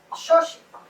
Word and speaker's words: Xochitl: Mi nombre es Xochitl. My name is Xochitl. And that is how it is pronounced in the beautiful language, Nahuatl language.